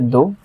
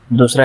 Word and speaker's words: the: अगर वो स्वर के सामने आए तो दी, अगर व्यंजन के सामने आए तो द बोला जाएगा।